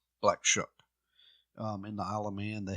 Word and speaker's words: Black Shuck: that just kept saying shucks shucks black shuck shuck corn okay black shook in the holla man